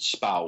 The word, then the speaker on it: Spui: off a court called spow which is spelled spui but I've been told that the UI in Dutch is pronounced like the ow and cow so Spa is the name of